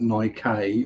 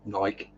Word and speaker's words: Nike: not as sticky um this isn't on E on the end you don't pronounce it as an eye not your English not Nike or Nike it's Nike if it was Nike it have either a y or another e at the end end off rhymes with don't tell him your name Pike does he realizes that